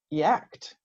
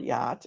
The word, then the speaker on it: yacht: with their standard sounds, they might say yacked or yatched. So even if you know the word yacht and know what that is, you're probably not going to connect it with that thing.